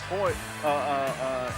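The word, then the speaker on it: Royce: names and it's pronounced Hoy uh uh uh H. The Rs are H's. It's Portuguese from Brazil.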